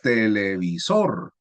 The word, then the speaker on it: televisor: Mire, televisor. Su sílaba tónica es la primera, sor. Entonces es una palabra que sería aguda, grave, esdrújula o sobresdrújula. Aguda.